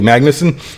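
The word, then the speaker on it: Magnussen: I can never I never know how to pronounce this guy's name Billy Magnus Billy Magnuson yeah um Loco you'll recognize him he was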